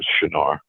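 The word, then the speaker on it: Çınar: it sound Shar yeah and that's how you pronounce it in Turkish shinar so the the name in that region is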